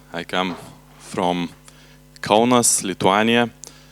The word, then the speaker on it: Lithuania: I come from Kaunas, Lithuania. Well, we should pronounce it as Lithuania in English in correct way, but I do not like it, so let's keep it Lithuania, okay?